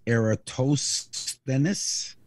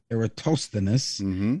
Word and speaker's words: Eratosthenes: yes his name is spelt e-r-a-t-o-s-h-e-n-i-s which is pronounced eratosthenes eratosthenes he's a greek he invented geography by being